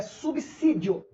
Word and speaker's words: subsídio: 11 falar assim então essa palavra som dela esse S tem som de s mesmo é subsídio não reconstrução dizer essa